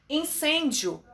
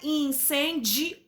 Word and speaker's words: incêndio: Incêndio. Incêndio. Tá? Não é incendio, não, a gente não fala assim, tá?